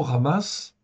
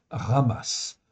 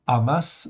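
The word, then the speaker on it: חמס: ok ça se prononce ramass on peut dire communément surtout en Occident amass ok mais en fait ça se prononce comme un r en fait au début ok ramass 60 fois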